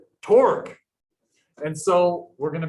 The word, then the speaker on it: torque: only force but also rhymes with fork torque and so we're going